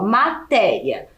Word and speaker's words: matéria: aqui no exemplo ó matéria na última sílaba certo eu tenho o i e o a juntos certo isso então é um diton ok e matéria também é uma paroxítona porque ela tem a penúltima sílaba tônica mais forte e se é essa